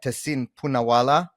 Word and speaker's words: Tehseen Poonawalla: Tehseen Poonawalla.